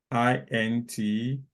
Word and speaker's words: IntelliJ: Can someone pronounce this word? INTELLIJ. INTELLIJ.